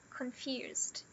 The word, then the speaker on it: confused: E aí a gente tem confused. Sim, por incrível que pareça, confused é uma palavra de duas sílabas. O con e o fused. Tudo isso aqui é uma sílaba só.